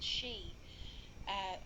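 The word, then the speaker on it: sidhe: I think you pronounce it the she, which is the fae.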